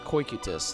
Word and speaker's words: Cocytus: Cocytus? Cocytus. That's how you pronounce it.